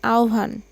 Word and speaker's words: আহ্বান: আমন্ত্রণ শব্দের সমার্থক শব্দ হচ্ছে আহ্বান, আহ্বান, এটার উচ্চারণ হবে আহ্বান।